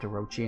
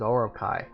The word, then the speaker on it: Orochi: I didn't even know it was pronounced Orochi until a friend corrected me on it. I always thought it was Orokai.